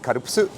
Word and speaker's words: Calpis: When I was a kid, in Japanese it's called karupusu. When I was a kid, this was written out as C-A-L-P-I-S, calpis.